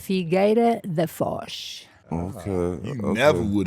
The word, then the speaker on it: Figueira da Foz: I don't want to mispronounce what part of Portugal can you pronounce? Figueira da Foz.